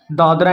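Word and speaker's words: Dadra: हम ऐसे लिखते हैं डी ए डी आर ए दादरा ठीक है समझ रहे हो मेरी बात बट जब हम हिंदी में लिखते हैं तो हमें दादर पढ़ना है यहां पर ए साइलेंट होता है ठीक है दादर और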